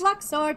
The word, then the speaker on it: Luxord: It's Luxord, not Don't Luxord. Don't be absurd.